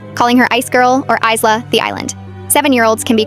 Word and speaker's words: Ayla: My daughter's name is Ayla, spelled A Y L A, pronounced Isla.